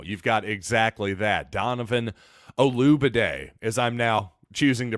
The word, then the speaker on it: Olugbode: Donovan Olugbode, as I'm now choosing to pronounce his name. I think the G is silent.